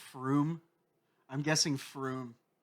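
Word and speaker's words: Frome: I'm guessing Froom. From a Dallas room. Well, you're right. It's Froom.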